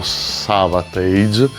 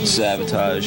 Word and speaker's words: Savatage: già detto mille volte anche in trasmissione, io pronuncerò Savage perché in Italia la pronunciamo tutti così, altrimenti non si capisce, ma si chiamerebbero Savotage Savotage Savotagotage Savotagot Niente, domani